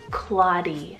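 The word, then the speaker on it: Claudie: vintage Choice here guys we have the name claudy so c-l-a-u-d-i-e claudy I kind of took this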